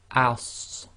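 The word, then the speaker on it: ص: And when you pronounce this, it's going to be ass. So it's like the scene as in ass, but you got to make it the thick version.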